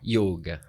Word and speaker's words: yoga: Por que yoga? Não tem acento, mas é yoga. Porque é o correto. A pronúncia correta então, em sânscrito. Para que todos saibam, yoga. Eu já sabia, porque eu pratico, mas é yoga, tá, gente, que se pronuncia.